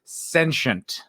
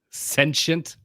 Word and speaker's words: sentient: fair to you, but it's pronounced sentient. Sentient. And everyone says sentient, and it's one of these things where I'm like, am I the only one who knows how this world's pronounced?